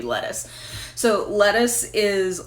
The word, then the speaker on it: Lettice: Now it is spelled in a way that it could be pronounced Lettice, but I declined to take that option, and her name's just gonna be Lettuce.